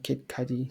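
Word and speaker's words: Kid Cudi: never got into uh kid Cy that's that's how you pronounce his name yeah kid C I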